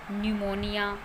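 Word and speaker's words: pneumonia: Next है word जब पी एन से शुरू होता है, पी एन से शुरू होने वाले वर्ड में भी पी साइलेंट रहता है। For example न्यूमेटिक, न्यूमोनिया।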